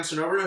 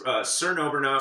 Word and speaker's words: Cernoberna: We have Sam Cernoberna, who's a wedding DJ. That's Cernoberna, 4 syllables, only 2 vowels.